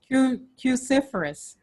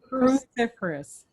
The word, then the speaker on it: cruciferous: vegetables like broccoli kale cauliflower how do you pronounce it again cuciferous cruciferous cruciferous vegetables thank you so much cruciferous vegetables